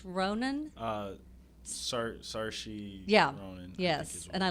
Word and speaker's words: Saoirse: And See How They Run with Sam Rockwell and that, I can't pronounce her name, Saoirse Ronan. Saoirse Yeah.